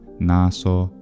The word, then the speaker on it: naso: Italians, and that's because the traditional pronunciation of the S intervocalically for the majority of words is voiced, but there are several words in traditional standard Italian pronunciation that are retained as voiceless, and those include così, caso, cosa, naso, mese, riso, sorriso, of course, as well, and peso.